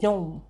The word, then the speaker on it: gnome: In gnome, you don't pronounce G. You just call it gnome.